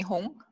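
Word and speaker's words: Hong: wrong yeah I'm home you can just call me home H Ong and hi I'm a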